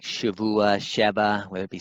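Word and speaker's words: שבוע: Most people pronounce it with a vet, especially in those who know Hebrew really well. Say like Shavua, Sheba, whether it be 7 or week.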